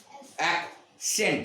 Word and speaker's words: accent: অ্যাকসেন্ট, right. তাহলে এই সিটা কি উচ্চারণ হলো? ক। আর এইটা স উচ্চারণ হলো অ্যাকসেন্ট, অ্যাকসেন্ট। তাহলে একটা সি ক হচ্ছে, আরেকটা সি স এর আওয়াজ আসছে, আছে।